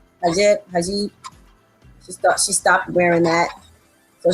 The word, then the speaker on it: hijab: That's how you pronounce it, right? Hijab.